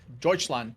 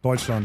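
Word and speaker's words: Deutschland: And we hopping in Argentina versus Deutseland. Did I say that right? Deutscheland. Yeah. You're doing such a good job pronouncing names.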